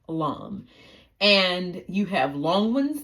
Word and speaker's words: lame: now this is a LOM spell l a m e LOM it looks like lame but it's pronounced Lum and you have long